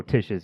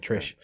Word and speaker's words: Tish: I thought you said Trish. Well, if I did, I meant to say Tish, and I believe I've been saying it correctly this whole time.